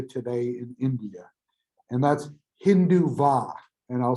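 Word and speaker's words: Hindutva: in india and that's hindu va and i'll spell this for you because it has a silent t it's h i n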